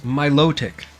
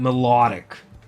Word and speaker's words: Milotic: up the wall hearing people say melodic it's Milotic not melodic anyways excuse to that it takes a thief